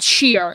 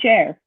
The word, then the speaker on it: Cher: pronounce her name and everybody pronounces it Sher I I went on and I looked for interviews of people pronouncing her name nobody has ever said sheer and I'm like um Shar like yes yes okay we're gonna put this up Stephanie yes okay people this is how you pronounce your name if you pronounce a cheer um you are seriously if you see interviews people say share yeah no corre them